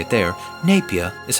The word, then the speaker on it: Napier: Now, it looks like Napier, but if I'm going to say it like they say it there, Napier is how I'm going to say it.